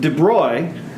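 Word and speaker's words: de Broglie: completely different perspective and de bruy that's how you pronounce that he looked at the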